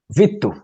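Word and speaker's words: vittu: way as well can you say it again Vito okay exactly oh your pronunciation is perfect it is a v-i-t-t-u perfect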